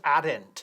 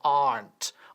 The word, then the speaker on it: aren't: No decimos aren't, sino aren't. Aren't, con una sílaba.